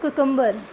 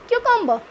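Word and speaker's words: cucumber: इट्स नॉट कुकुम्बर. आज के बाद क्या प्रोनाउंस करेंगे? क्यूकम्बर, क्यूकम्बर.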